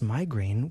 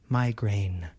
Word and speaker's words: migraine: The first syllable has the I vowel sound, my, and the second syllable has the A vowel sound, grain. Listen and repeat after me. Migraine.